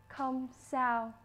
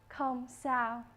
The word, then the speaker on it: không sao: No problem in Vietnamese is pronounced không sao. One more time, không sao.